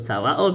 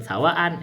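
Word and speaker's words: سواءٌ: Ini kadang ada disebut sawaun kadang ditulis sebut sawaan. Itu itu cara baca. Tapi saya baca sawaun aja.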